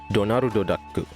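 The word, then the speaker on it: ドナルドダック: Since the character's inspiration was Disney's Donald Duck, which is in Japanese pronounced as Donaru Daku, hence Subaru Daku.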